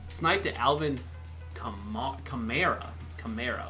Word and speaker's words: Kamara: it's boy but anyway chimera like Camaro is the way to say it so there we go